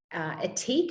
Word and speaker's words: Ethique: And they had an equity crowdfunding company there talking, and Etique, which is that brand, is spelled ETHIQUE.